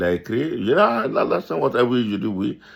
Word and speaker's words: Alassane: Bon, il a prononcé ça dans son accent anglophone, anglais, américain. C'était très difficile que pour lui de dire Alassane Ouattara. Il dit Allah, the son, Ouattara.